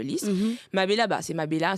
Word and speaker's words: Lis: la fleur de lis ça s'écrit l i s mais pas l y S mais ça reste la fleur de Liss ma Bella bah c'est